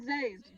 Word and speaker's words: Sazed: His name is Zazed. Just because you were pronouncing it wrong this whole time does not mean you're right.